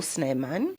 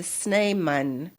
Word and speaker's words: Snijman: He later became the founding ancestor of the Snan family in South Africa. So if I put the names and I'm just pronouncing so you see the different uh writing but I'm just pronouncing it that way.